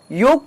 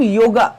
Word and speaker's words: योग: जब आप इंग्लिश में बात कर रहे हो तब योगा यह उच्चारण सही है, जैसे कि इंटरनेशनल योगा डे, परंतु जब आप हिंदी या अन्य भाषा में बात कर रहे हो तब योग यह उच्चारण सही है, ना कि योगा।